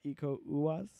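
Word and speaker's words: Iko Uwais: So it stars Joe Taslim and Iku Uwaz.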